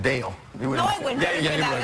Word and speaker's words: Dale: It's called Dale. Oh, see, I would have said it wrong. You do it. No, you would have said. I would have said delay.